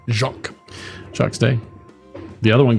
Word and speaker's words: Jacques: Jacques Jacques.